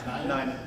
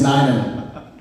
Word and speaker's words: Nainan: Nainan. All right, Nick, it's Nainan. Nick, you was asking me how to pronounce it.